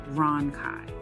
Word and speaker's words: rhonchi: Pronunciation, rhonchi.